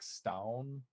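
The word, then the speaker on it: Stavn: It's spelled like Stavin, but it's like Stown.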